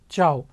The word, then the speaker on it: ciao: call this as informally ciao c i a c i a is pronounced as cha like if you know telugu it is cha if it is hindi